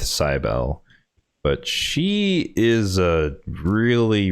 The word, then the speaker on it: Cybele: So next up, we have Mother Cybele or Cybele, depending upon how you want to say her name. I'm going to go with Cybele, but she is a